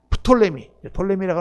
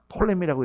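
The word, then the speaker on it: Ptolemy: 셀루커스, 그리고 이집트 쪽을 프톨레미라고 나오는데 그게 P가 있어요 앞에. 그래서 우리 한국에서는 프톨레미, 그리고 영어로 읽을 때는 P가 묵음이 되니까 톨레미라고 이렇게 읽습니다. 그래서 이렇게 됐는데 이 카산드라 왕국과 리시마커스 왕국은 약했어요.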